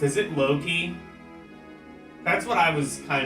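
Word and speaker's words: Locke: cting with resistance grou the oh it is pronounced lock okay lcx said lock lcx said treasure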